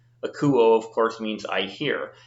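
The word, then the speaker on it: ἀκούω: Now I'm giving a little extra stress to the accented syllable because I'm wanting you to understand that. We would normally say like akuo, but I'm saying akuo to give it a little extra flair so you understand the accenting.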